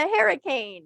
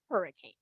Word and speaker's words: Harricane: bust moonshiners in The Harricane. I'm gonna call it The Harrricane, I've heard it pronounced Harricane. It's not hurricane.